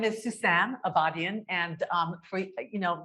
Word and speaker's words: Sousan Abadian: say my name properly so my name is Susan avadian and um you know a lot of my